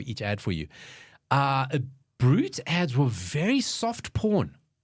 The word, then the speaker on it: Brut: both those things cuz I go no it's brght and he goes no it's pronounced honestly thought you were always joking when